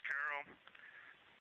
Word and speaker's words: Carroll: Her name was Carol, the spouse of Reed, the mother of Katie and Ellie.